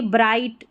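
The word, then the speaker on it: bright: यहाँ पर देखिए ब्राइट, ब्राइट में क्या है, जी साइलेंट, आप जी एच ले लें, दोनों को ले लें, ठीक है. ब्राइट में ये जी एच साइलेंट है, ये भी कई स्पेलिंग्स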